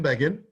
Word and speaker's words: Begin: and they said menachem began and they wrote in brackets rhymes with fagin fagan is the guy